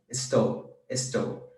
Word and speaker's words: estou: We're going to learn later, or well now, that final S's can be pronounced two different ways depending on where you are from. Like Estou. Most areas in Brazil, they say estou, like an S.